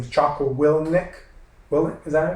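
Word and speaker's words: Jocko Willink: uh has his his podcast his name is choco will nick will is that how you pronounce it yeah so i like listening to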